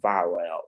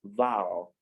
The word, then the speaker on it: vowel: way i'm pronouncing it i said vowel i didn't say vowel it is not viral it is one sound it's just uh it's a consonant sound and then each triphthong and the sound is called um the liquid yes so it is pronounced vowel it's just one syllable yes so the next